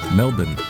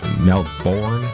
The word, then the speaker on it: Melbourne: help from Paul from Melbourne Australia how you say it Melborne no it's melbour that's the slang I